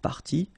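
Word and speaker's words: parties: what you will pronounce the good news is that you won't pronounce these a s or a s okay so it will go like party party and then here same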